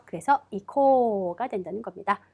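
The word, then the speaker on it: 行こう: 거기에 우까지 붙여서 이코가 됩니다. 자, 마찬가지로 여기서도 발음은 코, 오, 모음, 앞모음을 길게 빼주셔야 된다는 거. 그래서 이코가 된다는 겁니다. 의식적으로 길게 빼주셔야 해요.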